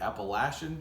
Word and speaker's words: Appalachian: on the 80 the Appalachian Trail for those of you who are not from the Appalachian area you're saying it wrong if you say the other way anyway that doesn't matter